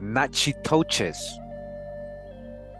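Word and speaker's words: Natchitoches: So we continue with the Nachi toes. All right. When first discovered by the French under Tonti in 1690, the main tribe bearing this name pronounced by the Indians themselves, Nachi to was living near the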